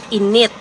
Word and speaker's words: init: it a different way in it so the stress is on the second syllable it also means hot but in a different way it means that your